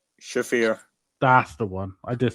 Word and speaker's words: Shafir: Timeless Tony Storm or Marina Sharifa? Shafir.